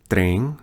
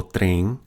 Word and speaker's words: trem: Train is trem. Notice the nasalization of that vowel. O trem.